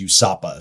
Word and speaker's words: USAPA: I think you know our you introduced a US alcohol policy alliance that the acronym we pronounce is USAPA.